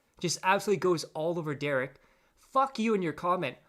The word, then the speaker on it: Derich: My name is Derek. It's Derich. It's how to say my name altogether.